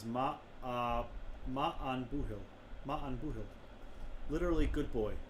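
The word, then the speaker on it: Maith an buachaill: Pronunciation is Ma'an Buhil.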